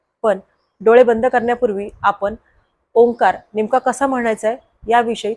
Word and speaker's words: ओंकार: डोळे बंद करण्यापूर्वी आपण ओंकार नेमका कसा म्हणायचा आहे याविषयी थोडसं समजावून घेऊयात तर आपण पाहिलं की ओंकार म्हणताना ओंकाराचे विभाजन तीन अक्षरांमध्ये होतं एक म्हणजे अ दुसरं म्हणजे उ आणि तिसरं म्हणजे म तर ह्या अक्षरांचा उच्चार